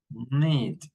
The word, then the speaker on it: knit: Now, the silent K, we don't pronounce the K, this group of words. So we say ni, nu, knickers, knife, night, knit, knitting, knob, knock, not, okay?